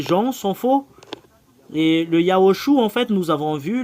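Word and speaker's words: יההוֹשֻׁע: Voilà, c'est Yahushua.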